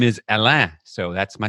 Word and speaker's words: Alain: my listeners sure yeah my name is alain it's a-l-a-i-n which isn't spelled the way it sounds in english it's because my mom